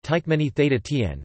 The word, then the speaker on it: Türkmenistan: Turkmenistan, listen or listen, Turkmen, Turkmenistan, pronounced Tykmeni Theta Tien, formerly known as Turkmenia,